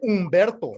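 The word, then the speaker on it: Humberto: I'm a pinche Umberto, not even Roberto. I'm a Umber, like Umbert. You're a Humbert? Yeah, fuck, exactly. See, H is silent, fool.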